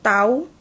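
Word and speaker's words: τ: Interval waktu pemberian itu tau, bacanya tau.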